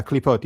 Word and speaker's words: Klipot: Is it Clipoth? Clipoth? Clipoth? Or Cliphoth? Do you know what I'm talking about? Klipot, yeah, Klipot, yeah.